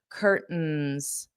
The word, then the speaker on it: curtains: Notice my pronunciation here. I'm going to use that glottle stop and not pronounce the t. That isn't a requirement for you, but that's how Americans pronounce this curtains.